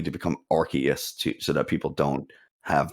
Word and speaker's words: Arceus: Originally, the original pronunciation was Arceus, but they changed it because of in the UK the word arse. They didn't want it to have that same sound in there, so they